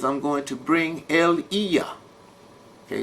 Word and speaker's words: Elijah: This is why Yah said in Malachi chapter 4, he says, I'm going to bring Eliah. Okay, it's not pronounced Elijah. He said, I'm going to bring Eliah, okay, before the coming of the great and dreadful day that shall burn like an oven.